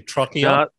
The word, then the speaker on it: Trocchio: Tim Donegan of Trocchio Wines. How did I do? Trocchio?